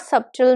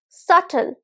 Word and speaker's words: subtle: word this is not subtle no this is subtle subtle so the B is silent subtle now let's take